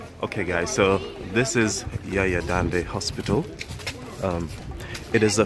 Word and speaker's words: Jaja: Okay, so I know you guys heard I said Yaya. English speaker would pronounce it as Jaja, but in Netherlands they pronounce the J as the letter Y in English, so hence why I said Yaya.